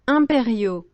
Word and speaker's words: impériaux: Les restaurateurs versus impériaux. I would just spell it as imperial.